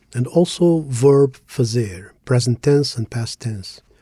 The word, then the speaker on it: fazer: Today, we're going to keep practicing Portuguese pronunciation, and we'll do it through the verb fazer. This way, we practice something useful. In English, fuzzer is usually translated to to do or to make.